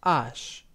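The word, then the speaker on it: ache: from oxin in French the name of the letter is written as a c h e and pronounced Ash the French orthography classifies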